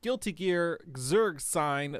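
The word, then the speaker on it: Guilty Gear Xrd Sign: guilty keer xerd which is correct this is guilty gear zerg sign the fighting game uh with that sweet sweet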